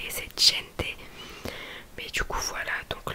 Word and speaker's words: gente: Ma professeure tout le temps elle me reprenait, non Sima c'est pas rente, c'est gente.